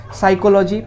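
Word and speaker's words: psychology: বানানটাও খুব আসে এক্সামে সাইকোলজি পি টা সাইলেন্ট থাকে পিসি চলো যাই পি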